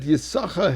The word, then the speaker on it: Yisachar: So therefore, our sages, that we don't pronounce both sheens or both scenes, to tell us that his reward was only half.